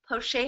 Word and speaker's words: Plauche: Poche has to be pronounced that way because it's French.